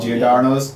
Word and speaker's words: Giordano's: Giordano's.